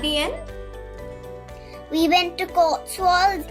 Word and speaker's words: Cotswolds: so correct me if I'm wrong is it pronounced as Cotswolds yes okay all right and this is a